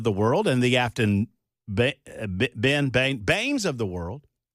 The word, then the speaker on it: Baines: world and the Afton Baines of the world, I remember her last name's pronunciation because it's like the evil guy in the Batman movie. That's Bane, right?